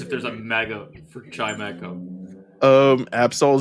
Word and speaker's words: Chimecho: I've been pronouncing it like a sauce until just now. Like I kind of just called it chimichurri. So no one cares if there's a mega for Chimecho.